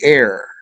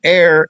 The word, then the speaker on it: heir: That's with a silent h e i r. I think that's how you spell it. You're sure of silent h though not air a i r.